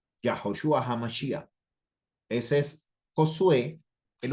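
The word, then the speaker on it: יהושע: Yeshua HaMashiach, así se pronuncia en español, pero en el hebreo es Yahoshua, Yahoshua HaMashiach.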